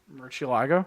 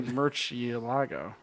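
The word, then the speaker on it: Murciélago: Murcielago. Yeah, thank you. You just, Making sure you're not fully retarded. no, you say Murcielago.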